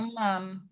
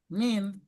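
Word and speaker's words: من: h ma min tuh jangan bacanya man min min dari gampangnya gini Nih ma min. Kalau ada yang begini nih, kalau setelahnya isim berarti bacanya min gitu.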